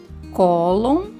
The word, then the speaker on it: cólon: Cólon, cupom. Cólon tem como sílaba mais forte o có e cupom o pom.